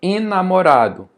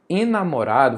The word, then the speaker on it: enamorado: Enamorado. Enamorado.